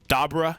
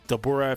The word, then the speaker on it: Dabura: work under those characters like dabra he he doesn't have a chance or i guess dabura for the english pronunciation he doesn't have a